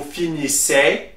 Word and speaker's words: finissez: For vous, the easy is pronounced E, so you will say vous finissez.